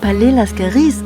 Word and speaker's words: Palais Lascaris: century go visit the Palais Lascaris. And by the way Palais Lascaris is pronounced with an S little detail we only found out later.